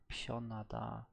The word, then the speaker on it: 편하다: Oh, pion, not pen. Pionada.